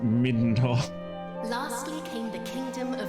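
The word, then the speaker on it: Midenhall: I'm sure they intended the kingdom's name to be pronounced Middenhall.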